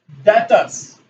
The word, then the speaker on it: debtor: Okay, next one, ये term आपको ध्यान रखना है बेटा, डेटर्स. सो डेटर, प्रोनाउंसिएशन इसका डेटर है बेटा, और स्पेलिंग है DETOR.